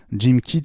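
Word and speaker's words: GymKit: porte le nom de jean kit certification assistant jim kit ça s'écrit j' y mk i té c'est le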